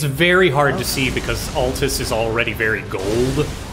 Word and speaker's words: Altus: hard to see because altus is already very gold i was pronouncing it atlas at the time so that was a